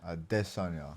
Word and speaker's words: Adesanya: him at that Sonya a diss on y'all that's that's how we're supposed to pronounce his name but yeah so he